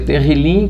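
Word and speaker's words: תהילים: aquele aquela palavra hebraica que significa que se pronuncia terrilyn que significa louvor louvores livro do louvor então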